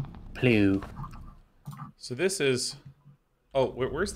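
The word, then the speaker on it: plugh: It's pronounced pluff. Plew.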